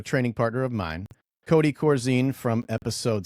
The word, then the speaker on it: Corzine: I his dad our our last name is pronounced Corzine and uh that's a pet peeve of his